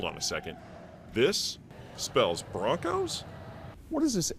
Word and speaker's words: Bronchos: Broncos, but it's spelled Bronchos.